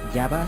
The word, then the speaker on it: Java: principal del archipiélago indonesio Java yava según la pronunciación suanes de aquí derivaría yah